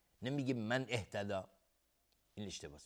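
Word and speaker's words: مَنِ اهتدى: من اهتدى، نمیگیم من اهتدى، این اشتباهه. من اهتدى نمیگیم، من اهتدى، یعنی انگار دیگه الف حذف میشه در حالت وصل.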